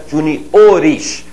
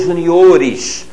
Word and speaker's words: juniores: Ju olha acentinho ali Junior plural de Júnior Juniores olha aqui estão vendo que eu passei um tracinho ali né Juniores Essa é a pronúncia J ores da mesma forma Sênior seniores a célula tônica avança a gente ouve muito por aí errado né o Juniores o que tá errado hein